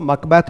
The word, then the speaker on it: Macbeth: दिया है ठीक है कुछ लोग इसको मक बेथ मक बेथ ही करते रहते हैं ठीक है लेकिन बहुत सारे स्टूडेंट जो है इसका उच्चारण क्या करते हैं मैकबेथ करते हैं वह भी सही है अकॉर्डिंग टू कॉलिंस डिक्शनरी इसलिए मैंने इसको यहां